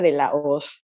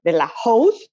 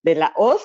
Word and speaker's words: de la Hoz: my name is marianella De Laos everybody pronounce it here the Laos but no it's the Laos like the wizard of us the AG is mute so I'm maranella de